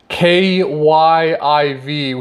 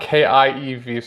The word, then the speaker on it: Kyiv: Russia airstrikes have hit a freight railcar repairing factory in the Ukrainian capital of Kyiv, so not Kiev.